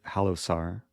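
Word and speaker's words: Halosar: So the Halo Sar trap, I usually pronounce it Halo Sar, but it comes from a Rider Gambit.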